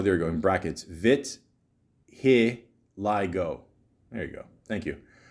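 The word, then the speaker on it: vitiligo: including the skin hair and mucus membranes they till Lego or I'm I'm not sure I'm pronouncing right oh there you go in Brackets vit Lio there you go thank you uh is a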